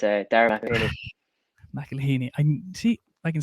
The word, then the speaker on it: McElhinney: yeah sure fairly spectacular don't know it's uh mcelhini i see i can say it when you